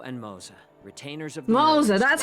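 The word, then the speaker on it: Moze: We are Jiaoqiu and Moza, retainers of the Moza, that's how you pronounce his name.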